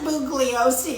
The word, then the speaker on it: Bugliosi: whole, you know, Bugliosi is responsible. The G is silent.